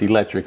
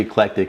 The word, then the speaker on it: eclectic: mispronounce it it's it's it's often referred to as electric Emporium but it's actually eclectic and so the meaning